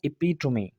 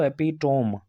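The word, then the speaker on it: epitome: एपिटोमी। एपिटोमी। अब यहाँ पर देखें, हम पढ़ रहे थे इसको एपिटोम, ठीक है, पर यहाँ पर इसको पढ़ा जाएगा एपिटोमी। और ग्रीक तकरीबन जो वर्ड्स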